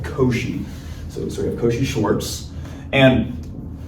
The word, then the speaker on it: Cauchy: name in the inequality, it might not look how it's pronounced, but this is called Cauchy.